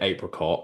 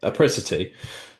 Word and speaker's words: apricity: So apricity, is that the right saying? The right Yeah, pronunciation? you're the only person that got it right, man. That's awesome. I do subconsciously want to say apricot, and I don't know why, but apricity.